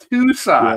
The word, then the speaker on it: Thusat: It's Thusat. Yeah, okay. You got the silent H in there, yeah.